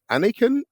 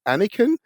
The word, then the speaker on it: Aniekan: they realize oh uh is it pronounced like Anakin like in Skywalker and so I usually say